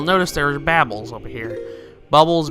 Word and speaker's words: Bubble: Bubbles, babbles, I've always called them babbles, but I think they're actually pronounced bubbles.